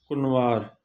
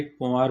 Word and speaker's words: कुंवार: अब्बू अम्मा, अद्दो अद्दी, सोहरो सस, घोट कुनवार। इसको नून करके पढ़ेंगे कुनवार, या आप कहेंगे कुंवार भी कह सकते हैं, लेकिन कुनवार करके पढ़ेंगे तो आपको स्पेलिंग की गलती नहीं आएगी।